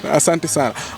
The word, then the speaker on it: asante sana: of the wording, but different in pronunciation. And I will say asante sana. Okay, you you you put it in high tone and low tone. I put it in a fluent tone.